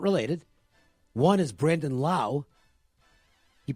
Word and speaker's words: Lowe: Rays have two guys who spell their name Lowi on their roster they're not related one is Brendan Lau you pronounce it lol o w e but he